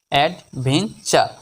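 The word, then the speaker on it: adventure: আর ই টুরিও নয় টি ইউ আর ই এর উচ্চারণ হবে চার চাকার র চার অ্যাডভেন চার বাংলা অর্থ অভিযান নেক্সট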